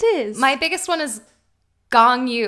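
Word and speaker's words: Gong Yoo: My biggest one is gong yu. I always say gong, like the instrument, gong yu, but it's gong. Gong yu.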